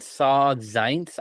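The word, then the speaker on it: Saul Zaentz: So it's ironic because Milos Forman and Saw Zaentz, I believe that's how you pronounce his name.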